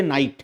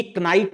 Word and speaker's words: knight: जैसे हम लिखते हैं KNIGHT और पढ़ते नाइट हैं, तो ये कनाइट नहीं पढ़ते, तो ये चीज देवनागरी लिपि में नहीं है, ठीक है।